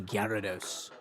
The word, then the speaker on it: Gyarados: rise right to the top like a mighty Gyarados.